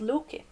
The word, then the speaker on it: Loke: And the other one is called Loke, which is the Swedish or Norwegian... it's one of the Scandinavian ways, anyway. One of the many ways of pronouncing Loki's name, the god Loki of mischief, who's my big favourite.